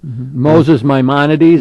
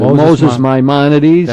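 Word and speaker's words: Maimonides: greatest philosopher of Judaism Moses myones that's how I usually pronounce it Moses myones a middle-age Jewish philosopher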